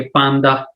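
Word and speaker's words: panda: और पांडा जो है उसको पांदा ही बोलते हैं, लेकिन प्रोनाउंसिएशन में थोड़ा सा फर्क आ जाएगा। डी को दे करके बोलेंगे पांदा।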